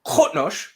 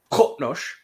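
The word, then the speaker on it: Qo'noS: And to illustrate the difference, we have here Qotnosh, which is the name of the Klingon homeworld. Wait. Qotnosh.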